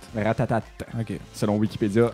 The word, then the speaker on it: Ratatat: aujourd'hui on parle de Ratatat Ratatat yes c'est mon album oui commencer est-ce que c'est ratata ou Ratatat Ratatat ok selon Wikipédia à